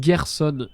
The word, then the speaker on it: Gerson: Je prononce Gerson. Et je crois que c'est le consensus.